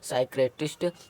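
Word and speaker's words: psychiatrist: इसी तरह इसको साइक्रेटिस्ट और इसको माइक्रोथेरेपी, ठीक है ना। और QRS लेटर कभी भी साइलेंट नहीं होता है।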